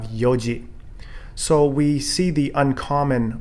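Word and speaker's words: 四時: example as i mentioned instead of shidan we have yondan instead of shikai for four times we have yong kai instead of sichido for seven times we have nanado instead of shiji for four o'clock we have yoji so we see the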